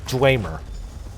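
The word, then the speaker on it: Dwemer: I'll take that large Dwmer jug. And it is pronounced Dwr.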